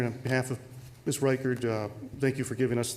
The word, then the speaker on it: Reichard: I'm always wanting to pronounce it Reichard myself. I may pronounce it that way during this hearing, but I think it is Reichard.